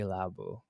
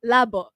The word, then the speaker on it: labo: I actually am very labu. Is that how you say it? Labu. Labo. L A B O. So like lab.